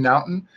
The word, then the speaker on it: Naughton: Dan Naughton is that how you say it? Naughton?